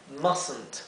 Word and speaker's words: mustn't: Y aquí en realidad, aquí idealmente no pronuncien esta E, traten de pasar de la S a la N. Mustn't, mustn't, ¿sí? Mustn't. Y la, como verán, esta T entonces no se pronuncia. En cambio, la T final sí se pronuncia claramente.